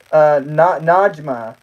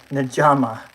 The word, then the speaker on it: Najma: Najma. Najma? Am I saying that right? Najama? Najama. Sounds like I'm saying pajama. Najama.